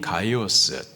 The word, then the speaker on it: 가이오스: 가이오의 이름의 헬라식 발음이 가이오스, 뜻은 기쁨을 주는 자입니다.